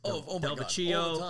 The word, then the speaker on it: DelVecchio: People have gotten your last name wrong before. It's DelVecchio.